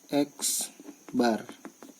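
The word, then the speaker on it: x̄: Dilambangkan, lambangnya adalah X, di atasnya kasih garis, dibaca X bar ya. X di atasnya garis, dibacanya X bar.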